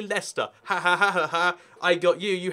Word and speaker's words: Leicester: And he's like, oh, yeah, let's go to Leicester sometime. And it's like, oh, no, sorry, mate. It's actually Leicester.